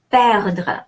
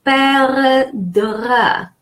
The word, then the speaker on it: perdre: And then perdre, important rule here. Perdre, E followed by 2 consonants are D, is pronounced E, like the word egg.